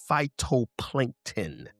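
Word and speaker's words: phytoplankton: is pronounced phyto plankton.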